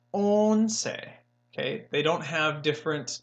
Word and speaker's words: once: is 1111 on say looks like once like once upon a time but it is not once it is own say okay they don't have